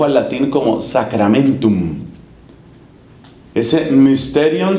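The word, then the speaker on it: μυστήριον: Curiosamente, la palabra mysterion en griego se tradujo al latín como sacramentum. Ese mysterion se escribe con la Y, que se pronuncia como la I francesa.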